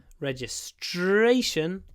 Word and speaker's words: registration: registration so register it's on the first syllable register registration on the third syllable register registration register registration